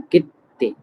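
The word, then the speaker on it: 切手: Okay, सो सा, फिर तेन तेन लगा के हो गया सा, फिर वापस छोटा सु, फिर शी, झाशी, फिर कित्ते।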